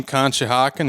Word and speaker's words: Conshohocken: he laughed when I said the the name Conshohocken he said I was the only one to ever pronounce it correctly he served as a department